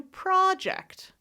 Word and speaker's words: project: And the word I'm going to spell it is Project. If I say project, that's the noun. Da-da, that's the noun. I'm starting a new project. But if I say project, that's a verb.